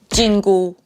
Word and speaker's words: 金箍: prohibition band fun fact they have the same pronunciation in Chinese jingu just with different tones so that would be